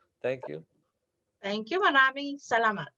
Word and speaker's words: salamat: Maraming salamat. Or just salamat. Salamat. Salamat. Salamat. Yes. like salami.